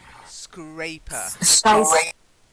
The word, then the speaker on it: scrape: a double P skyscraper scraper skyscrapers better scrape rhymes with ape long a sound so can you say